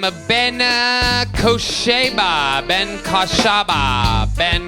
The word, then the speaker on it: Kosiba: the name of Ben Kosiba. Ben Kosiba. Ben Kosiba. Ben. All right, guys, my name's actually Ben Kosiba, or Koshiba, if you say in the original Aramaic dialect.